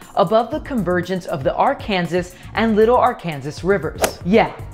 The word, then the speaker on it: Arkansas: over 70 feet above the convergence of the Arkansas and little Arkansas Rivers yet in Kansas it's pronounced Arkansas the keeper a steel structure was created by